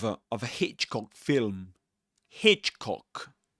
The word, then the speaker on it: Hitchcock: Hitchcock, you stress Hitch Hitchcock film.